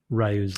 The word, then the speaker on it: Ryu: it feels like it's Rayu's life you know or Ryu's life or Rio um it's not consistently pronounced It is Rio and it it is R Yo.